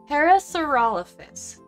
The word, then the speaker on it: Parasaurolophus: Is this a parasaurolof? Prof, how do I say it right? Parasaurolophus.